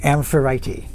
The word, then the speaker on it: Amphitrite: It might have an extra syllable in there. Amphitrite. She is a Titaness who was a Nereid.